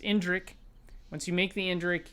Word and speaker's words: Indrik: in in drink indrick that i think that's how it's pronounced indrick once you make the